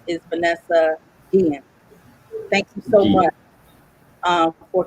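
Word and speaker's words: Vanessa Guillén: It's the correct pronunciation is Vanessa Guillen.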